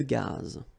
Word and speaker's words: gaz: Final not pronounced here. Une conduite de gaz.